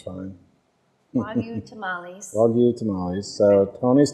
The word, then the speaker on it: Wagyu: Well, I say redneck it up when I say Wagyu. Wagyu. Wagyu would be more correct. Okay. If you Nihongo ga wakarimasu, but most people don't, so it's fine. Wagyu tamales.